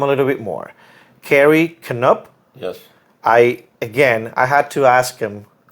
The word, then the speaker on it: Canup: Carey Canup.